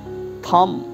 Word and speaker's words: thumb: B is silent, thumb.